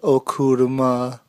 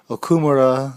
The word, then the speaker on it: Okumura: interview part one of okurama yeah i said it wrong okumura his brother and cram